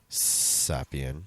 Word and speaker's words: Zapien: She's actually named after a children's cartoon, Mabel Pine Zapien. You didn't say it right. Zapien. There we go.